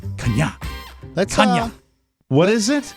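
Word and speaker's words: Chania: No, it's not Kanye. Here's my... all right, it's spelled C-H-A-N-I-A, which I would go Kanye. Right. Or Kania. And then the pronouncer is K-A-A-N-I-Y capital A-A. Kanya. Kanya.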